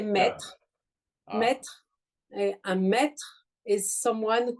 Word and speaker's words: maître: Maître, un maître.